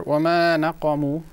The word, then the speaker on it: وَمَا نَقَمُوا: Anyway, so I picked up here وَمَا نَقَمُوا وَمَا نَقَمُوا. The qaf is going to be pronounced a bit clear, more clear. It was a bit drowned.